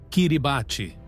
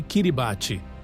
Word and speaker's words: Kiribati: Kiribate. Pronuncia-se Kiribati.